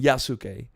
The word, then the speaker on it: Yasuke: well and there there they also are saying yasuke like even the Japanese historian that they hired for this project so I don't think anyone knows how to pronounce it but in the Netflix show they say yuske so that's how where I was like oh